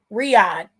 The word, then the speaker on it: Riyadh: Saudi Arabia and yeah Riyadh that's how you say it because I used to call number diet and Riyadh that's where